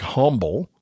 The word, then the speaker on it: Humble: And y'all, it's spelled like humble, but it's pronounced, if you're from that area, Humble, Texas.